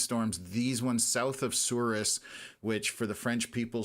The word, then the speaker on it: Souris: for the French people, Souris, I always make fun of how they pronounce things out there because a lot of it is French related, but it's pronounced with an English accent, I guess.